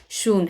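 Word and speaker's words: Schuon: लेते हैं सून okay some times बहुत सारे अल्फाबेट जो होते हैं वह साइलेंट होते हैं तो यह शून है ओके सीएस जो है वह आपका साइलेंट हो जाता है सरण स्पेशली टूक ऑन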